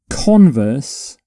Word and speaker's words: converse: Converse is what we're looking at. Converse is when you have a conversation with somebody. So for this particular word, you put the stress on the first syllable.